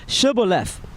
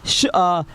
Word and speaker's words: Shibboleth: If he said, Nay, then they said unto him, Say now Shibboleth. And he said, Sibboleth, for he could not frame to pronounce it right.